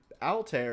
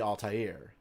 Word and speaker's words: Altair: In fact, Altair is how a lot of people pronounce this star, but really it should be Altair, right?